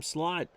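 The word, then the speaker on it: Slaught: A 2-2 in there at the knees, and that'll bring him slot. Don Slot. Don't pronounce it any other way.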